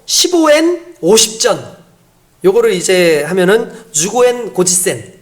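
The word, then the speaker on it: 十五円五十銭: 그러니까 그 사람들을 구별해내는 방법이 뭐였냐면은 일본말로 15엔 50전, 요거를 이제 하면은 주고엔 고지센 이렇게 얘기하더라고요. 주고엔 고지센. 이걸 해보라 그래요. 근데 이게 한국 사람이 잘 못 따라하는 발음이래요.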